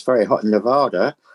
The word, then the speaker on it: Nevada: Did I say it right? Nevada? No, it's Nevada.